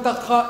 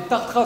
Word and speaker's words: Tartrat: Je m'appelle Tartra, et Tartra, c'est un palindrome. Ça s'écrit dans les deux sens, en fait.